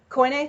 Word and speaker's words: Koine: And then the Septuagint translators, those are who translated the Old Testament into Koine Greek, if I'm pronouncing that right. Koine? Koine, thank you.